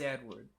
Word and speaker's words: Édouard: Well, it is just pronounced Edward, but uh Cass uh Edward gets some lore dump.